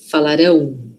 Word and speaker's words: falarão: Nós falaremos e eles, elas e vocês falarão. Tá vendo que agora um o de verdade aqui? Não é um m querendo ser o, é um o real.